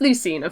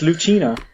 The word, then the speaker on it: Lucina: it said Lucina I said Lucina yeah it's Lucina for sure that one is known too well I guess to like pronounce wrong they says he's like Lucina he